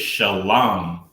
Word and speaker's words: Shalam: The original is shalam, sha, la, and ma.